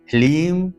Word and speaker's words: लीम: सारा खेल है ओम लीम श्रीम क्लीम नमः यहां पर लीम है ह्रीम नहीं लीम ह लीम लीम श्रीम